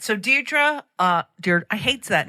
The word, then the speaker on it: Deirdre: But Deirdre's not a great name to pronounce because it's the RD.